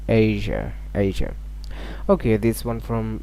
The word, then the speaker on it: Asia: This is not Asia. It is not correct pronunciation. The correct pronunciation will be Asia.